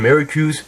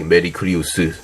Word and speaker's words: Mercurius: So regarding the pronunciation for Mercurius, I'm kind of basing it on what I've heard as a kid. So the Japanese version and the Korean dub version, because in the Japanese and Korean dub version, they go with the pronunciation something like Mercurius. So which is why I would assume in the English it should be similar, going as Mercurius.